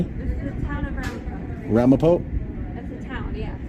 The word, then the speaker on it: Ramapo: The town of Ramapo. I'm sorry? This is the town of Ramapo.